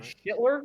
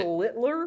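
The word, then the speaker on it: Schlittler: Is it Shitler? Like what is how do you say his name? Schler. That sounds like a cuss word. Schlitler. What? Schlit. Schlitler. Yes, Cam Schlitler.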